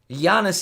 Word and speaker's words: Giannis: you guys say Giannis Giannis is correct yeah Giannis is how it's pronounced as far as I asked me to